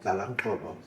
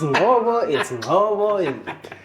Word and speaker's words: Ngobo: So I'd love to hear from you about Lefty, Lalangobo. Tell me about Why is everyone mispronouncing this? What's going on? It's Ngobo.